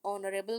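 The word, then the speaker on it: honorable: A foreign tourist is एन ऑनरेबल guest, यहाँ पर भी एच जो है वो साइलेंट है, इसलिए हमने ओ को जो है वो मद्देनजर रखते हुए यहाँ पर एन लगाया।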